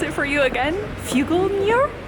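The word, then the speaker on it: Figlmüller: I want to pronounce it for you again, Fuglmuller.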